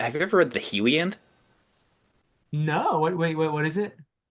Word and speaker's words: Heliand: Heliand, I think. Yes, yes, yes. That is ringing a ton of bells. And it's Helliand actually, and it's in Old Saxon, There we meaning go.